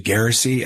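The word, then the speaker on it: Geraci: I think it's actually Garrissey. I think we were saying it wrong before.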